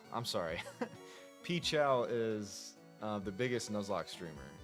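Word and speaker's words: PCHAL: Pchow is the biggest Nuzlocke streamer. It's spelled P C H A L. Um, he used to be called Pokemon Challenges and he simplified his name to Pichchow and he's definitely the biggest Nuzlock streamer.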